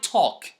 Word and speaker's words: talk: to the letter L we don't pronounce the L when it comes after o or a and before another consonant like f or okay